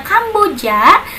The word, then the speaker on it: Kamboja: Filipina ada Vietnam ada Kambodia bisa ditulisnya tapi dibacanya Kamboja ada Malaysia ada Singapore